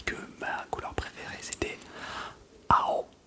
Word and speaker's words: ao: C'est juste un A et un O.